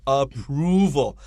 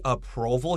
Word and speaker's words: approval: of the pronunciation of approval a lot of students would say approval here and that's not correct i wrote two o's here like moon so we know the